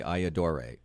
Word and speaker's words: Ayyadurai: a pretty good job think about saying I adore you see say I adore a easy let me just tell